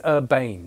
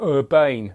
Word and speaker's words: Urbain: came out with this i think that's how you pronounce it it reads urbane but i don't want to be the sort of english no pronunciation thing you know urbane you know uh so he